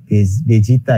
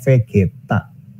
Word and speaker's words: Vegeta: juga launch atau saingannya sound gokil bukan namanya Bezita ya bacanya di Indonesia bercita-cita sebenarnya dalam Jepang yaitu terasanya Vegeta Oke kita itu kira-kira cenderung kearah mana itu